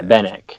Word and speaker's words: Benak: Is that how you pronounce that? I didn't even. Yeah, Benak. Benak.